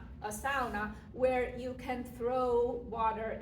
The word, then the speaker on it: sauna: As Finns, we don't call it sauna, we call it sauna. That is one thing you have adopted from our language, and we say it sauna. That's how you say it.